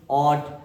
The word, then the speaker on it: ought: OUGHT, इसको क्या बोलेंगे? ऑट। क्योंकि इसमें क्या होता है? GH या GHT हो तो GH को साइलेंट करके केवल टी का साउंड पढ़ते हैं।